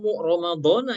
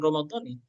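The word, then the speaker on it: رمضان: Saumu yasih ramadana. Cara bacanya bukan ramadani.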